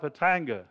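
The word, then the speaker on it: Khatanga: It's down the valley, the river's flowing north, obviously, and turned northeast towards the town of Hatanga. It's spelt with a K but pronounced with an H.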